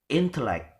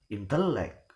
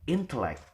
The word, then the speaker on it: intellect: So the the stress is given in the first syllable intellect. We will never give the stress in the penultimate or in the last, such intellect or intellect, but intellect.